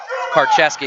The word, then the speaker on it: Karcheski: Oh, heavy hands there by Karcheski is how you say it.